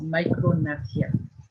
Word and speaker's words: micrognathia: This underdeveloped mandible or a small lower jaw is called micrognathia. ये G इसमें silent है. ये G. This is silent. It is micrognathia.